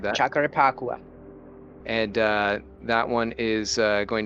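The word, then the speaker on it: Jacarepaguá: We're going to have a test race next week at Jacarapagua. I butchered that. Jacarapagua.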